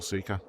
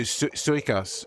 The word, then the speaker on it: Suika: I've actually been asked I've actually had people ask like why I don't go for Suka or however her name is pronounced. Oh, Celestia. No, no. Suika.